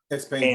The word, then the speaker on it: XPeng: XPeng? XPeng.